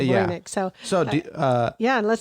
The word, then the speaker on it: Voynich: out, I think, that's kind of the closer pronunciation than whatever I was saying last time. Okay, we're going to go with Voynich.